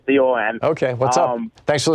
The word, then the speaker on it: Horicon: It's Horicon, just like it's spelled, Horicon.